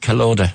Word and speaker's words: Calodagh: Have I pronounced your first name incorrectly? No, you're on. Calodagh. Calodagh.